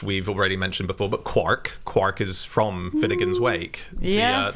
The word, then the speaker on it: quark: called quarks, and then he saw the word quark in Finnegan's Wake, where it clearly rhymes with Mark, but even though he spelt it in the same way that Joyce did, he always pronounced it quark.